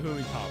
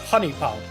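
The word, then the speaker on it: HuniePop: What's going on about Hooey Pop? What's going on? Well, it's pronounced Honey Pop.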